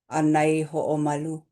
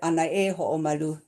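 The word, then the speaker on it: ʻAnaehoʻomalu: It is right in this place name, Anai Ho'omalu. There is also ohana that pronounce it Anai Ho'omalu. Either way, Anai Ho'omalu, Anai Ho'omalu.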